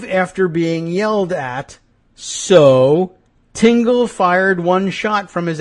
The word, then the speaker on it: Tingle: The man, Adam Tingle, T I N GL, not Tinkle. Tingle.